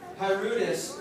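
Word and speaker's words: pruritus: Really quick, can you describe the symptom of hypersensitivity, I think, and maybe pronounce it? Itching. Just like sharing? Yeah. Okay. So, Pyrutis is itching, so P-R-U-I-T-I-T-S.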